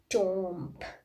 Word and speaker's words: tomb: comes after A, in that case also B is silent. Like comb, tomb, limb, thumb, all the B is coming after M.